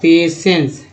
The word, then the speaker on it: patience: PATIENCE उच्चारण क्या होगा दोस्तों, इसका उच्चारण होगा पेशेंस। क्या उच्चारण करते हैं, पेशेंस करते हैं।